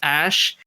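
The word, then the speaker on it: Æ: I mean, it's just X, the letter X, and the AE is pronounced Ash, and then A12 is my contribution."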